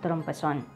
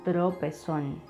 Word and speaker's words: tropezón: All right, so the first word that I bring you today is this one, trompezón. The right way to say this word is tropezón. Tropezón, tropezón.